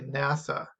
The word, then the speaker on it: NASA: of other words and pronounced as a new word so nasa we say nasa and that's short for